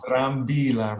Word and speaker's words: Brambila: Brambila. Brambila. Brambila. Roll the R.